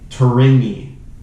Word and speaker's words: Tourigny: hire the new coach andre torini now the g is silent i assume uh he's a quad